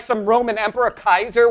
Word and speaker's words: Caesar: What are you, like some Roman emperor, Kaiser, which is the original Latin pronunciation, by the way, not the ecclesiastical, which would be Caesar.